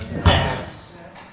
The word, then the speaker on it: nafs: Nafs.